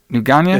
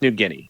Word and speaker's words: New Guinea: I say that right how do you say it newana it's new it's New Guinea New Guinea what okay